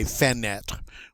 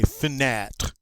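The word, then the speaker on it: fenêtre: next all right now that e after the f is what we call a mute e uh the french don't normally like to pronounce those um so it's like you're saying f and then all right you don't hear that e maybe very briefly but we certainly don't say senet we say finnette all right unifinet is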